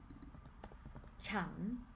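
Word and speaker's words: ฉัน: one how do you pronounce this one is pronounced ฉั น exactly ฉั น น ะ ฉั น with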